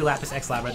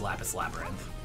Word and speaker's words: Lapis x Labyrinth: this is lattice labyrinth you don't say the axiom yeah I don't I don't know what's up with that like yeah pretty X is silent yeah we can't say lack of sex laughs we can't say well that's technically yeah technically lapis xlab red is wrong it's lapis labyrinth if you wanna be